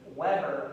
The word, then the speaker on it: Weber: Weber, but when it's a German name, you pronounce the W's as a V. So it's Weber.